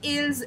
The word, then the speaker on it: ils: In plural, we add s to it, okay? But the pronunciation remains same. I will not say ills, ls. I will say ill, l only.